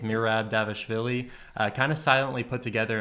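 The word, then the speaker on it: Dvalishvili: his opponent much lesser known and much more difficult to pronounce pronounced mirab davishville kind of silently put together an impressive seven-fight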